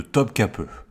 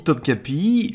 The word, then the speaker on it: Topkapı: sera le palais de Topkapı. Alors j'ai toujours dit Topkapi, mais j'apprends sur place qu'en fait ce i là sans point, eh bien en turc ça se prononce e.